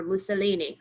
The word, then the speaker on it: Mussolini: guess also against italy remember mussolini rhymes with linguini um and keep in